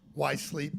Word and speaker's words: Whyzzz: uh perform under uh why sleep it's spelled like wh Y and 3z though so I've interviewed